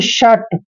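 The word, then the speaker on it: shut: तो यहां पे देखिए एस एच यू टी एच और टी के बीच में यू आया है जब भी दो कंसोनेंट के बीच में यू आएगा तो यू का उच्चारण हमने ए करना है यानी कि शट श के बाद अ का साउंड करना है उ का नहीं करना है शट शट मींस बंद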